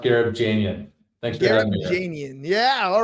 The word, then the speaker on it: Gharibjanian: go for it man it's pronounced gab Janan thanks for Jan yeah